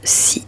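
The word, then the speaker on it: 四: la raison est simple ce chiffre 4 se prononce si c'està-dire de la même façon que le mot mort tout le fait que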